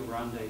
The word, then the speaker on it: Grande: Here, the Rio Grande separates not one country from another, but two parts of our city. Here, folks pronounce the E in Grande.